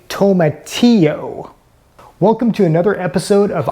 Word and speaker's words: tomatillo: You say tomato, I say tomatillo. Welcome to another episode of I Want to Cook. Today I'm going to be telling you a little bit about tomatillos.